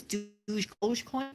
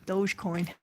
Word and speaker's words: Dogecoin: crap you know what yeah i think it's douche coin dogecoin douche coin dollar coin i gotta work my pronunciation on that thing dogecoin okay you guys see ya